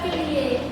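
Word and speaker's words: coal: में देखते हैं कि ओ ए का उच्चारण वैसे तो ओ होता है एग्जांपल के लिए सीओ ए एल यहां पर है ये कोल है ना तो ये पहले वाले का क्या लिया गया है नाम लिया गया है और ये जो है यहां पर साइलेंट है कोल में वैसे ही सो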